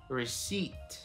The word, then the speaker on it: receipt: Or receipt. We don't say that P. I've heard it so many times. We don't say that. Receipt. The P is silent.